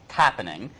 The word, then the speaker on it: Tappening: Go to, I try not to ever plug any of my businesses, but Tappening, which rhymes with happening.